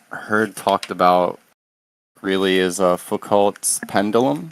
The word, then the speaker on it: Foucault: But one thing I've seen that I haven't heard talked about really is Foucault's pendulum. Foucault, am I pronouncing it correctly?